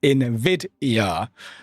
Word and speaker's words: NVIDIA: It should be said as NVIDIA.